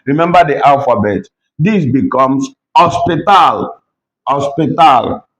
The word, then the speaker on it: hospital: Remember you don't pronounce H when you start that word in Spanish. Remember remember the alphabet. This becomes hospital.